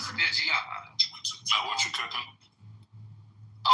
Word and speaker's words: Reggiano: Reggiano. You gotta say it like that. You said it too properly, man. Reggiano.